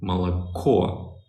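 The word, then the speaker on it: молоко: o's they're not stressed so the O's that are not stressed they're pronounced as ah the O that is stressed is pronounced as or that's it there is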